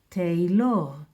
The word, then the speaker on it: טיילור: So this is Segol, it will sound Te. This is Shva Na, it will sound like Ye because it closes the syllable Te. And the Lamed gets the sound from the Holam Male here.